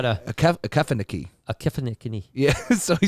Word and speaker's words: Okefenokee: It's Okefenokee.